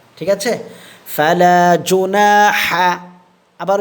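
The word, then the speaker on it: فلا جناح: আচ্ছা দেখেন তাহলে ফালা ফা জবর ফা লাম আলিফ জবর লা ফালা এক আলিফ টান হবে জিম পেশ জু নুন আলিফ জবর না জুনা জুনা জুনা এক আলিফ টানবো আমরা। ঠিক আছে? ফালাজুনা আবার উচ্চারণ করেন।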